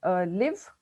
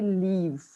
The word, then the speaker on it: live: words and i think one pronunciation that you can note is live so when you say i want to live in a country or something like that you said you actually say leaves so you want to probably practice you know how to say live and leave they are two different words and children's you said